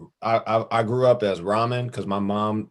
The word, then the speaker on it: Rahman: So you could say I grew up as Rahman because my mom mispronounced my own name because she thought she made it up, but it's actually an Arabic name that you pronounce Rahman.